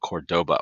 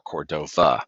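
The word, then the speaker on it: Córdoba: city in Spain called Cordoba or Cordova it's the same city sometimes spelled with a V or a uh D but it is here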